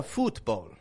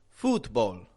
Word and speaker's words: football: Again, I'm not giving it a football. A lot of people will say it that way. Football. Getting an ooh, ooh. Bringing the corners of the lips right towards the middle.